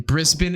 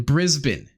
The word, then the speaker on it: Brisbane: you so yet on a Grand Slam in Brisbane is it Brisbane Brisbane how do you say